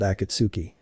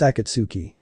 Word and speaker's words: Akatsuki: those two they're part of an organization called akitsuki AKA what now Yang asked unsure of how the pronunciation was it's Akatsuki Rashi answered last I heard they were just